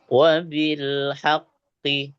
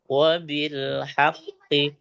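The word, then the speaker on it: وبالحق: Nah, itu yang ya kita pelan bacanya. Wabilhaqqi itu asalnya ya. wabil haqqi.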